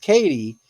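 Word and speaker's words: Cady: Prior to starting at her new school, where does Katie, pronounced Katie, say she has just moved from in Mean Girls?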